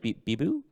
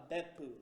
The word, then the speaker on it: Beppu: Bibu? Biba? Beppu. Beppu, okay. Butchered that, but Beppu.